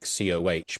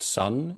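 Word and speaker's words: Сон: it probably looks like COH, but that's Cyrillic and it's pronounced sun.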